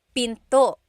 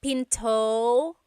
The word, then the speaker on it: pinto: And remember, don't forget the glottle stop. Don't forget to stop the sound at the end. That's called a glottle stop. Pinto. It's not Pinto, it's Pinto. Stop it at the end.